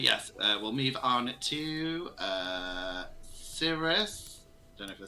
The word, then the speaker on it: Cirrus: But yes, we'll move on to Cirrus.